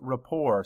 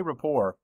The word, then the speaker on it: rapport: our next word is Rapport say Rapport no that t is silent this time the noun